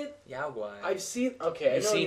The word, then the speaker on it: guai: Guai.